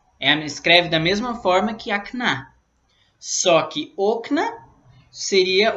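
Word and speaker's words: окна: E aí no genitivo fica akna, com a sílaba tônica no final, akna. Só que o plural também você tira o o e põe a. Só que a sílaba tônica é no início, okna. Ok? Então, okna é o plural. E akna seria o genitivo singular da palavra akno.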